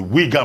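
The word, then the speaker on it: Uyghur: xiang region with regard to the uh the weaker muslims i'm told yes that's the correct pronunciation that is wigar yeah that's it um right so as far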